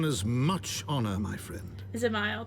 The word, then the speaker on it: Zamail: Zamail. That one I haven't been saying it right. Zamel. I don't care.